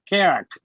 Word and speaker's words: Kera: It's Era with a K. Kera.